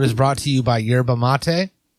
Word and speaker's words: yerba mate: brought to you by yerba mate pronounced sherba yep these sons pictures